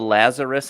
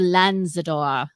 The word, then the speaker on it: Lanzador: Because the Lazarus, I keep wanting to call it the Lanzador. Lazarus. Eileen, how do you pronounce it? the Lanzador, the Lamborghini Lanzador.